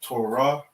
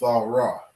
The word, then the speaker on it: Thawrah: books of the bible they call it torah okay but this is the proper way to say this word it's all raw okay and it means